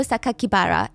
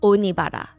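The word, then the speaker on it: 酒鬼薔薇: for Saito Sakakibara, and instead of pronouncing the way that he intended, the killer intended, because the kanji could mean other words, they stated to the public that the killer's name was Saito Onibara, which would be a more common surname.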